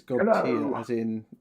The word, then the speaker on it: Godtear: So I'm assuming it's Godtear as in sad, but it could be Godtear.